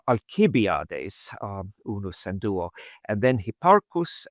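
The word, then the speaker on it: Alcibiades: um fedus um alibiades in good Latin pronun pronunciation alibiades not ali uh alibiades is unusual and then Hipparus and then Amato.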